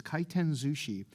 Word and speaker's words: Kaiten Zushi: Yes, I pronounced that correctly. It's Kaiten Sushi.